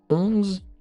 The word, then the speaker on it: onze: Le O et le N en français, très souvent ça se prononce on on Ensuite, on a un Z qui se prononce Z the et à la fin un E qu'on ne prononce pas.